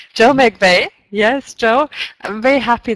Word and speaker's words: McVeigh: Is that how I pronounce it right? I say it McVeigh. McVeigh. Joe McVeigh.